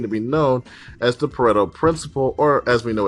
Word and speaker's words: Pareto: About a century ago, an Italian, uh, economist, uh, Vfredoto Frederick Pareto, um, and yes, that's how his name is pronounced, noticed a few things from his backyard.